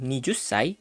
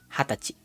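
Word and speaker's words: はたち: bukan nijusai tapi menjadi hatachi.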